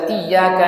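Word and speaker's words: إِيَّاكَ: mau saja majual baca iyaka nabudu wa iaka nastain dia baca iaka naudu sinnya dibagi jadi syin kemudian Iya dia tidak membacanya dengan tasdid J itu rusak ya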